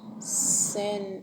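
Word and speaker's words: seine: Another word is sen, Sein is sen, sen. It is taking a long a sound, sen.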